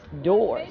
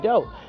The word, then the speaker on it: doors: It's doors, not dough.